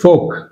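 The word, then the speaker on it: folk: silent అంతేగాని talk అనకూడదు ఇక్కడ కూడా ఫోల్క్ అనకూడదు ఫోక్ ఎల్ సైలెంట్ ఫోక్ అంటే ఎల్ మరియు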